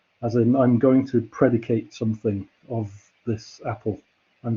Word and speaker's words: predicate: noun as well interestingly it's the same word but we pronounce it differently depending what it is if it's a verb we normally say predicate as i'm i'm going to predicate something of this apple